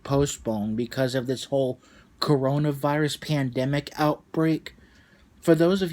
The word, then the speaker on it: coronavirus: dude but I'm a proud I'm afraid you pronounced it wrong it's not corn ever it's virus its coronavirus but you were right on your arm ah